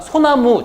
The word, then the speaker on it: 소나무: 그래서 마소라고 발음을 하게 되는 거고요. 우리가 소나무 주변에서 많이 볼 수 있는 나무죠.